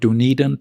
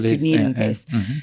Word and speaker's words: DunedinPACE: I think it's called DunedinPACE. DunedinPACE. That's right. DunedinPACE.